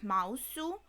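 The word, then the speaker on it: マウス: do correct me but I wrote her name like Mouse pronounced in Japanese like mousu and I went with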